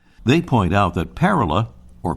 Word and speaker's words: Parula: back to the pronunciation according to the American bird Conservancy the accent is on the first syllable they point out that parala or parula is a diminutive of